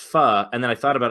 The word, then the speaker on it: pho: so so do so I used to say pho also and then I was eating with my